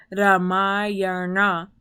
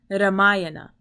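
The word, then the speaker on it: Rāmāyaṇa: So there's a reason why it is Ramayana and not Ramayana.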